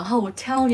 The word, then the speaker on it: hotel: đó nhấn âm một chỉ có hotel nhấn âm Hai rất nhiều lần cô